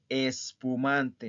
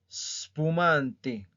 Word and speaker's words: spumante: Spumante, spumante, spumante. ¿Ok? No es espumante, no. Spumante.